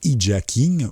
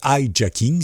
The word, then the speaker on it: hijacking: Nous avons aussi des détournements de navigateurs qu'on appelle du hijacking ou du hijacking, ça dépend si vous le prononcez à l'anglais ou à ma manière.